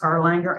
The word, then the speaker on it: Erlanger: ERLANGER.